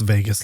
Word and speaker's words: vagus: And I love that it's pronounced Vegas like Las Vegas cuz Vegas can make